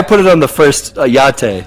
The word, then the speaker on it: YATTE: it on the first yate like it's like a latte with a y there you go that's